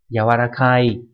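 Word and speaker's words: 柔らかい: Âm khương yomi giống hệt như chữ nhu ở trên, đọc là yawarakana hoặc là gì nhỉ, yawarakai đúng nhỉ, nghĩa là mềm xốp.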